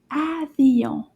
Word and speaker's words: avion: In French, it's called avion. Avion. Repeat after me. Avion. Let's do the syllables together. Avion. Oh, that's 3 claps. Avion. So 3 syllables.